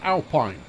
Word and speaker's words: Alpine: Or is that Alpine? It should be pronounced Alpine, but I know that the stereo manufacturer likes to call it Alpine, which is wrong.